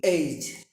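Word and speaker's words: edge: D silent যেমন ই এর পরে নয়, ডি এর পরে যদি জি থাকে, ডি এর পরে যদি জি থাকে সেই ক্ষেত্রে ডি উজ্জ থাকে। যেমন এইজ, এ ডি জি ই এইজ।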